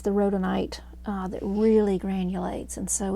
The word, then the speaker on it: rhodonite: right um oh how do you say that Rhoda rhodonite okay I'm kind of mixing the two together